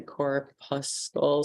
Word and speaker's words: corpuscle: is difficult um I always say core Plus skull so I assume I say that because that's how it's spelled okay so these things